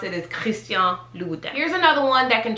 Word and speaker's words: Christian Louboutin: Okay, so people would typically say Christian Louboutin. It's Christian Louboutin. That's a little challenging, but trust me, that is how you properly pronounce it.